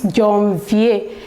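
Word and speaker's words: janvier: the year is january and we call it john v john yes the second one is february february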